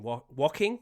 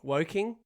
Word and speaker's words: Woking: and a very orange trophy cabinet brewing in walking. Woking.